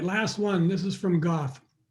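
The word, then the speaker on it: Goethe: This is from Goth. I've actually heard it's pronounced Guter, but I'm just going to keep calling it Goth because I don't think people know what Guter means in German.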